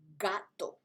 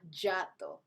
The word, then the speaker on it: gato: hey-oh or Hank then you need a hard G sound such as gato not Giotto gato gorila gusano sorry